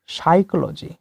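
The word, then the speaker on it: psychology: তারপরে যে প্রশ্নটি রয়েছে সেটি হচ্ছে, point out which letter is silent in সাইকোলজি, অর্থাৎ সাইকোলজি এই শব্দটিতে কোন বর্ণটি সাইলেন্ট? এখানে সঠিক উত্তর হয়ে যাবে অপশন বি, অর্থাৎ পি। তারপরে যে প্রশ্নটি রয়েছে সেটি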